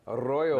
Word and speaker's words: Arroyo: Gotta roll it, man. Arroyo. That's the way to say it.